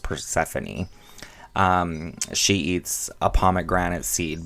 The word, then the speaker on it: Persephone: Her daughter, Persephone, is taken to the underworld by Pluto for 6 months every year.